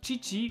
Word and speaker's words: Chichi: amoureux de chichi que ici ça se prononce chichi que le metteur en